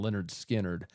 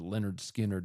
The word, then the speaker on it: Lynyrd Skynyrd: They released their first album, which was called Pronounced Leh-nerd Skin-nerd.